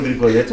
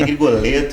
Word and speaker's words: Grigoletto: Mas nós temos o prazer de conversar hoje com o pastor Grigoletto. Grigoletto. Grigoletto, um sobrenome meio difícil de falar, né? Grigoletto, assim, meio chique, né?